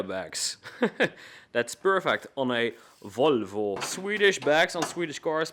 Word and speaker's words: Volvo: you keep saying Luca you're saying Volvo wrong it is Volvo and not Volvo well full vote is Dutch and that's why I'm saying it but few guys